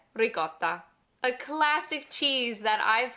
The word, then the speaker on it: ricotta: Numero 9, ricotta. A classic cheese that I've heard said as ricotta, ricotta, and ricotta. The Italian way is to really emphasize that double T. Ricotta, ricotta.